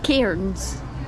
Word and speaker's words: Cairns: So I'm Scottish, and the way I pronounce where I am is Cairns. Cairns. However, the tour guide yesterday was like, if you want to be able to say it like a true Aussie, drop the R.